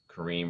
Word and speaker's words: Kareem: it should be green kareem rhymes with green share button it does